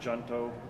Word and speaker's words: junto: Well, I say it like in Spanish because I speak Spanish, but junto, J-U-N-T-O.